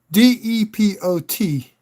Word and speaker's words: depot: This is like D-E-P-O-T. Pronounced depot.